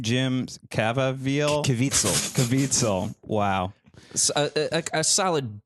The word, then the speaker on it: Caviezel: Caviezel.